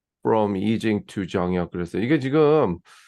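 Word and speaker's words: Yijing: 정역 그랬어 이게 지금 이직은 미국에서 이칭 이층으로 그동안 알아 알려져 왔고 이제 원래 그 이층은 이제 차이니스 발음이 정확하게 약간 그 피인 시스템을 그깐 그 웨이드 가스라는 그 이전에 그 체계로 했기 때문에 그 발음이 이층이 좀 약간 거리가 있지 어 그 본래 발음하고 그래서 이징 보통 요즘 다시 이징 쓰는데 이렇게 쓰는데 그다음에 이징의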